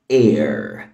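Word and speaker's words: heir: كلمه معانا هي كلمه اير اير الايتش هنا سايلنت ما بتتنطق اير اير اير يعني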